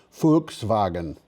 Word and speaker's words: Volkswagen: pronounce Honda right but I know how to pronounce Volkswagen I should I should pronounce it l a little more carefully foxwagen both announced plans to